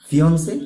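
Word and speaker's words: fiancé: ফিয়ন্সে আর ফিয়ন্সে, দুটোর প্রোনাউন্সিয়েশনই কিন্তু ফিয়ন্সে হবে।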